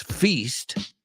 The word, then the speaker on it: feast: used as a noun it's feast and it does not rhyme with fist so great job Amigos